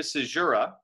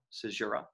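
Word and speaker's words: caesura: what that would demand would be putting a sajura and here's another glossary term c-a-e-s-u-r c-jera uh into the verse and this is just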